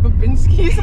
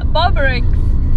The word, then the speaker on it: Bobrick's: I've been saying it wrong this whole time. What? Like, what did you call it? Like Bobinski's. I was like, Bobrick's? Is it Bobrick's? Bobrick's. Hey.